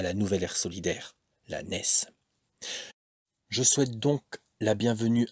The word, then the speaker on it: NES: Il faut donc prononcer NES pour N-E-S.